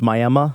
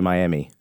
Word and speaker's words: Miami: my hillbilly Indiana white-trash I know it's pronounced Miami but I say Miami screw you hey tunnel